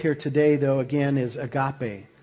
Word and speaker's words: agape: And so, the word we're dealing with here today, though, again, is agape. Agapeo is the actual pronunciation for the Greek there.